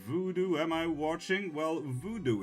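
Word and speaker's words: vodou: Well, voodoo is spelled V-O-D-O-U and not V-O-O-D-O-O.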